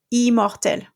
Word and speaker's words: immortel: But what happens if you have another M there? In that case, the nasal sound is cancelled and you're going to pronounce this E. Immortel, for example.